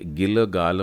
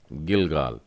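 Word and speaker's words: גלגל: इसे गिलगाल मत पढ़िएगा, गिलगाल, क्योंकि लमेद के नीचे श्वा डला है। लमेद पहला नहीं परंतु दूसरा है, इसलिए ल का उच्चारण छोटा हो गया, और गिमेल में कमास आ की मात्रा, गहरी आ की मात्रा लगी है, और उसके बाद फिर से लमेद है।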